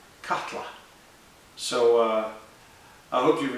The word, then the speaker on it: Katla: good news is that it's easy to pronounce it's cut katla almost like a a kettle catla so uh I hope